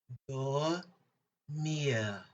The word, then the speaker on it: dormir: French word for this lesson is dormir.